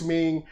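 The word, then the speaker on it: Meng: Grace Ming. Grace is spelled normally, and Ming is M-E-N-G.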